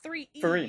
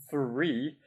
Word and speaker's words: three: three yes good boy that's two syllables though it's a one syllable word say it properly say syllable three it's not three e it's three all right I'm not